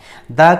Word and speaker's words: the: द का उच्चारण द होता है कहीं कहीं, और कहीं कहीं जो है इसका उच्चारण हम दी पढ़ते हैं।